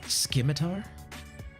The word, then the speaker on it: Scimitar: It's pronounced Scimitar.